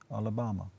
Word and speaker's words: Alabama: By the way, stop saying Alabama. Alabama. It rhymes with Obama.